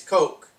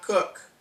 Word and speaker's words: Koch: Okay, it's Coke. It's not Cook.